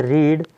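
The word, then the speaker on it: read: की स्पेलिंग होती है रीड, तो रीड का थर्ड फॉर्म यूज करेंगे, और रीड का थर्ड फॉर्म भी रीड ही होता है, लेकिन इसका प्रोनाउंसिएशन जो करते हैं वो रेड करते हैं।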